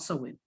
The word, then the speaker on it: Samhain: And I know it's spelled Samhain, but it's called Samhain.